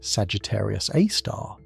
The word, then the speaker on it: Sagittarius A*: Deep within the densely packed core of our galaxy lies Sagittarius A, pronounced Sagittarius A star.